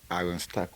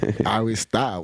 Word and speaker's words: Iron Star: We're talking about Iron Stack right now. Am I pronouncing her name right? Help me with that. What you mean? Hilarious, nigga. Iron Star. What? I thought you said stack. Iron Star.